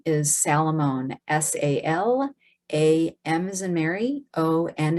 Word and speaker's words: Salamone: Anna, it's Anna, and then the last name is Salamone, S-A-L-A-M as in Mary, O-N as in Nancy, E.